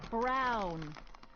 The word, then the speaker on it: Brown: a tee oh that's Emmett Brown rhymes with clown which I'm beginning to